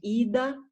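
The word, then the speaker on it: Idá: ah tá então a não é porque tem o acento no ar que a sílaba tônica é o final tá é ida na primeira pinga lá o pin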